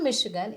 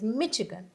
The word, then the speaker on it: Michigan: So it is not Michigan, it is Michigan.